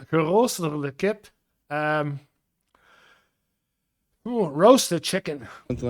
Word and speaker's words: geroosterde kip: I think it's pronounced geroosterde kip or something. Ja, geroosterde kip.